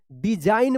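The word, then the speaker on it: design: एन से पहले जी है तो जी साइलेंट रहेगा। डिजाइन पढ़ेंगे।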